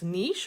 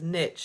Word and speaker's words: niche: how to say it you can say it as niche or you could say it as niche so however you want to say it is fine but you should be